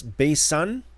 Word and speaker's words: Basan: Sometimes it's pronounced as an S as in Samuel and sometimes it's pronounced as an SH as in shalom.